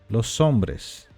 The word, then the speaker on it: los hombres: tem h e emur seria Hombres los sombres pronuncia exatamente assim los sombres los sombres você pode